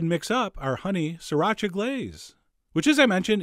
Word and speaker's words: sriracha: the same amount of sriracha, which is how I've been told to pronounce it. 3 distinct syllables, sriracha. Although, you know what? That sounds kind of weird. I'm going back to sriracha.